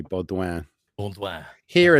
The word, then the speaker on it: Beaudoin: The yes, French Canadian pronunciation would be Beaudoin. Baudouin. Here Yeah. it's pronounced every which way, like Bedoin and Bowden and Doink, Bodwin.